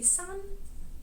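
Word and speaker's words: sans: sound or sons well the correct pronunciation would be sun in a french manner but in english you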